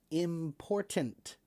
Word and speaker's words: important: it must be very important. Imports are imports because they are important. So I do pronounce the T very strongly when I say the word important.